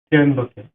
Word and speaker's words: ত্র্যম্বকে: এখানে আবার সেম ত্র্যম্বকে। ত্র্যম্বকের উচ্চারণ হবে ত্র।